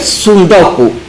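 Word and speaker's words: tsundoku: los libros no leídos se creó en japonés supongo se pronuncia así el término es sudoku y se relaciona con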